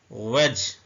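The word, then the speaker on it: wedge: रहा है Urdu language वेज इसमें डी साइलेंट है वज उर्दू में ऐसे लिखेंगे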